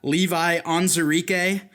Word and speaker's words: Levi Onwuzurike: First up on my list, I've got Levi Onwuzurike.